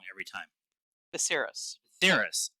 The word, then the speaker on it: Viserys: All the swords on the throne, they made a good point of showing Viserys, uh, Viserion. I'm going to say it wrong every time. Viserys. Theris. There's no N in it.